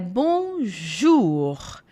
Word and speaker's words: bonjour: Então sempre que vocês encontrarem ó com u juntos o som vai ser de U não de ou vai ser u então é bonjour bonj bonj som de u mesmo e aqui a gente